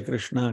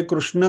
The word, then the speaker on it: कृष्ण: वैसे कृष्ण का जो प्रोनाउंसिएशन है हरे कृष्ण होना चाहिए। हरे कृष्णा करेंगे तो कृष्णा तो द्रौपदी का नाम है।